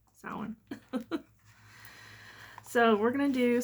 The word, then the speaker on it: Samhain: um sellin or champagne i used to say sam hand all the time and then someone's like well it's pronounced sound so we're going to do saw one first